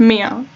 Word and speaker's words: Mia: Mia, it's pronounced Mia.